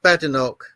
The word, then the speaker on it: Badenoch: Yeah, I believe it's pronounced Badenoch.